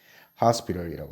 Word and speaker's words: hospital: T를 우리 미국식 발음에서는 어떻게 한다? 발음을 좀 더 쉽고 자연스럽게 하기 위해서 디귿이나 real처럼 발음하는 경우가 있다 그랬죠. 그래서 hospital이라고 합시다. 자, hospital 어떻게 적어요?